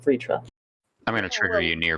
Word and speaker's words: Vritra: dragon of lightning and while they spell it v-r-t-r-a according to the uh hindi um transliteration he does pronounce it vritra i'm gonna trigger you